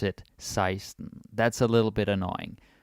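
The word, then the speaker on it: seksten: spelling here for 16 is Sexton but we pronounce it seism that's a little bit annoying but that is some history seism that's how you say it all right with translation 11.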